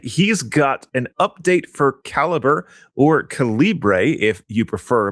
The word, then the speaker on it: Calibre: end which is why we sometimes call it Calibbre. There is a reason why. Well, even the even though co says it should be caliber.